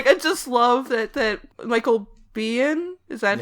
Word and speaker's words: Biehn: Yes, and I just love that Michael Biehn, is that how it's pronounced? Yeah, Michael Biehn, who's been in 10 million movies and about 4 of them have been good.